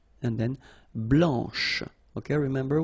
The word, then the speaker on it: blanche: final C, and then blanche. Okay, remember, when you combine this CH, you get the sound SH, blanche.